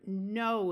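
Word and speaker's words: know: that this long word has the root no in it remember that when K and N occur together at the beginning of a root the K is silent and this o w uses the long o sound so we're going to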